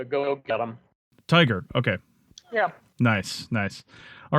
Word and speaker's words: TIGHAR: Is how you pronounce it? We call it TIGHAR, like go get them. TIGHAR.